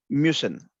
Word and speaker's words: müssen: Müssen. We pronounce it as mü, mü, Müssen.